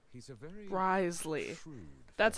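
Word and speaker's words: Wriothesley: Risley. He's a very Risley.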